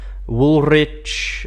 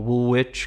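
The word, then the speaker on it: Woolrich: or maybe Premier yes wool rich or Woolwich because it's um actually an American brand so it shouldn't be pronounced like that putere is another brand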